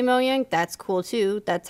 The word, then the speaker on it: Mojang: because I feel like everybody accepted that it was Mojang and this year at E3 they were like from moyang and I'm like what the hell have we been saying it wrong the whole time so I asked them